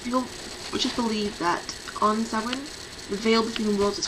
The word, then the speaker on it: Samhain: Now for those who've seen the name, it's pronounced, well, it looks like samhain, but it's Gaelic.